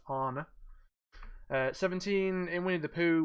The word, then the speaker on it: Anna: its Anna it's pronounced honor in this I know it looks like Anna but it's pronounced honor seventeen in Winnie the